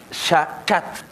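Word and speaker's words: שחט: Y sacrificad viene una palabra hebrea que se pronuncia shachat.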